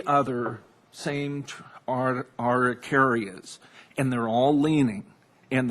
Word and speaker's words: Araucaria: How do you pronounce that, Mr. Downey? It's Araucaria Araucaria.